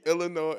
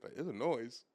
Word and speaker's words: Illinois: look at it yeah s is silent is silent in the M wait